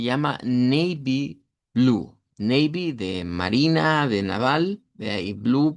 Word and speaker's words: Marina: Eh, las palabras que aquí tenemos, la primera hasta acá es marina. Marina. Eh, que se nos sonaría como eh es una A del español, eregular y larga y es va al final.